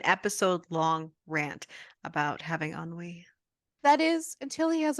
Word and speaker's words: ennui: I can't pronounce this word. Is it ennui? Yes. Okay, but ennui has set in.